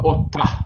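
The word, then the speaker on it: אוֹתָהּ: Так, вот, слово ота, ота. Правильное произношение. Значит, предполагает, что буква «гей» на конце звучит.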